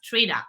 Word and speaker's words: Trini: to make that clear it's spelled with an i but it's pronounced Trina so for all of